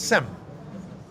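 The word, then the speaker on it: שם: How do you say Shem in Hebrew, in English? What is the name? Shem. It's Sem.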